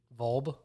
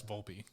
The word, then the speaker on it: Volpe: Volb? No, it's Volpe. I think it's Anthony Volpe. Dog, I've watched like the last 5 Yankee games. It's Anthony Volpe.